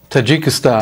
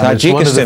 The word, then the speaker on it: Tajikistan: Tajikistan Tajikistan.